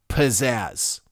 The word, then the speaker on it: pizzazz: amazing because well I first off I'm saying it correctly when I say pizzazz emphasis is on the first syllable the Z's ins as are absolutely important when you say the word out loud as you can hear all four of those z's land in just one syllable can you believe